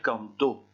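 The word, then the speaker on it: cantó: Donc ici, au passé simple, je dois dire canto en insistant sur le O.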